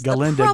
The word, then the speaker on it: Galinda: Galinda the proper pronunciation.